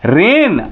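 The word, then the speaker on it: reign: जी का हम प्रोनंसिएशन नहीं कर रहे हैं रेन आर ई आई जी एन रेन जी का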